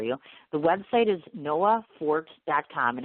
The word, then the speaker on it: Noa Fort: is limited oh they are is different okay Noah fort is the young lady's name now let me read these off for you the web site is Noah fort calm and it's spelled again and Oh a